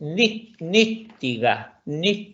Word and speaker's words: nittiga: Si bien recuerdo, incluso trabajamos con esta, que en sueco diríamos se dice nittiga, y les recuerdo una vez más que todas las consonantes y vocales se pronuncian en sueco. Si aquí tenemos dos T, no es nittiga, sino que es nittiga. Las dos T se pronuncian.